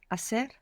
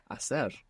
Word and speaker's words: hacer: To do or to make, which begins with a silent H. Hacer. Hacer.